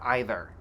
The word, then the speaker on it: either: Both pronounced either and either.